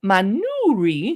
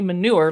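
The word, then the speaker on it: Manouri: apricots and manui cheese now I'm GNA pronounce that manuri because I'm not trying to say manure like Cal manure it's a name of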